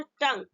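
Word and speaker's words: tongue: क्या लगा रहेगा, जी यू ई लगा हो तो उसमें क्या साइलेंट है, यू। एग्जाम्पल यहाँ पे है टंग, देखिए यहाँ पे टंग है ना, टी ओ एन जी यू ई, यहाँ पे क्या साइलेंट, यू। तो इसको हम किस तरह पढ़ेंगे, टंग, एल ई ए जी यू।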